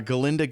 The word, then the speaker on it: Galinda: But, you know, we find jazz all over the uh Galinda gives Dr. Dillamon about her name. Her name. That's why he can't he can't pronounce Galinda. He always says Ginda.